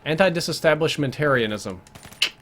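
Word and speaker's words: antidisestablishmentarianism: Oh, that's not a Terrialism, that's a Tarianism. Yeah, anti-disestablishmentarianism. There you go, anti-disestablishmentarianism. That's the right way to say it.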